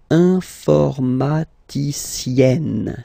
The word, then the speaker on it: informaticienne: And you get the sound informaticienne, sienne. Remember, E and then double N, or then it could be double L or double consonant here. You open your E, so it's E. Informaticienne.